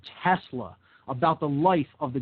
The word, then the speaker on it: Tesla: which is performed using a Tesla coil, a Telsa coil, as I used to pronounce it back in those days.